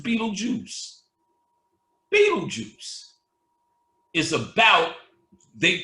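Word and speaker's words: Betelgeuse: they spelled the star Beetle gist but it's pronounced Beetle Juice Beetle Juice is about they told you in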